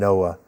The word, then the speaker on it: NOAA: Teacher at Sea, again, if you Google Teacher at Sea and NOAA, it will come up. We'll provide the website also. All right, that's NOAA, not NOAA, spelled like Noah in the Ark.